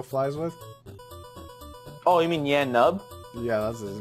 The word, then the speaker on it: Nien Nunb: Oh, you mean Yan Nub? Yeah, that's his name. Is that his name? Yan Nub? Nub? It's spelled some weird way.